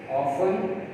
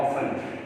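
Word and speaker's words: often: ऑफन, ऑफन, ये ऑफ्टन भी बहुत लोग पढ़ते हैं, अंग्रेज इसको ऑफ्टन भी पढ़ते हैं, मैंने सुना है, मगर ये ज़्यादातर जो है पाकिस्तान के अंदर जो है इसको T को साइलेंट ही पढ़ा जाता है, ऑफन।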